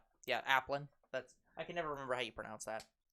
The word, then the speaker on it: Applin: How's he pronounce that? Applin. Yeah, Applin.